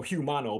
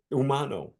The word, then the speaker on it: Humano: If you want to go you want to go gringo on it, go Humano. But in in Spanish, the H is silent. You go umo. Humano. Umano.